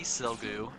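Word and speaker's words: Sigilyph: We did get shiny Silgu, and that's the one that I always feel like I mispronounce because I want to put the I before the L, but y'all are gonna have to deal with me mispronouncing it.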